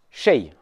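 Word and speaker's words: شيء: Un quelque chose, en arabe, ça se dit shay. Ça s'écrit comme ça.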